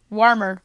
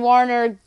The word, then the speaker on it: Warner: Louis Cardinals for Jake Woodford and Austin Warmer, my bad. Mispronounced that name. So the Marlins get rid of an asset that's been okay this year. Woodford and Warner, two nice young arms that maybe one of